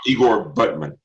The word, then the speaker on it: Butman: No, Igor Butman. Butman. It's pronounced Butman.